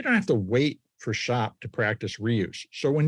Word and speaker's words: SHÄP: speaking with Jurgen pretz he's the founder of shop shop is spelled s-h-a with an umlaut p and you